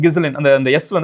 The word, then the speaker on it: Ghislaine: In English, the “S” in Ghislaine is silent.